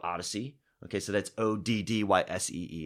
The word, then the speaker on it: Oddysee: Right, so that's another big point around this technology that we're launching, and the technology is called Odyssey.